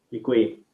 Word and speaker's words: děkuji: Děkuji.